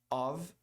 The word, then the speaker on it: of: meio de uma frase of muita gente fala off não pronuncia com som de v e aí parece que é off E aí pode dependendo